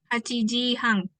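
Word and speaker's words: 八時半: Nah, Pengucapan 8.30 ininya 8-nya biasa ya, Hachiji. hachi, Terus kalau yang 30-nya jadi Hang. oh, hachi hang gitu ya berarti. Hachiji Hang.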